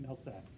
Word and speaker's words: Mehlsak: Mehlsak, how do you pronounce it? Mehlsak.